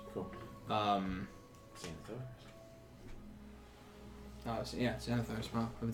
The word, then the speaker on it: Xanathar: Reliquary, you have access to basically any spell that is 4th level or lower, including ones that are in Zandalar's. Cool. Um, Xanathar?